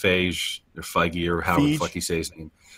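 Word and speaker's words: Feige: movie universe and how Kevin F F or fige or the he say his name f yeah whatever Kevin what's his we'll call him that um yeah no it's pronounced 5D he's he has got a very strong focus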